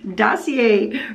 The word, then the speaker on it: Dossier: So here we go, Dossier Fragrances, and today I am going with floral berries because it's cranberry season.